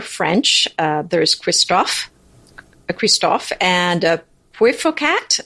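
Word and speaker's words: Christofle: uh there's Christof a Kristoff and a poocat the Kristoff is people in America sometimes call it christoffel because it's because of the way it's spelled and and that sounds awful and theoc cat is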